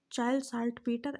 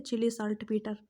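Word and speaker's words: Chile saltpeter: कुछ लोग इसको चिली भी पढ़ते हैं, ठीक है, चिली साल्ट पीटर, कुछ भी आप पढ़ सकते हो, प्रोनाउंसिएशन का बात है, ठीक। तो इसको हम लोग चाइल्ड साल्ट पीटर पढ़ते हैं, चाइल्ड नाइट्रेट।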